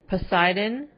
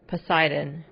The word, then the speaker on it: Poseidon: 이 영화에 나오는 배 이름이 포세이돈, 영어로는 Poseidon. Poseidon. 이라고 발음합니다.